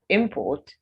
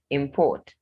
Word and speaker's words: import: word the wrong way for example import and import when i say import i'm talking about a noun when i say import i'm talking about a verb now it's even easier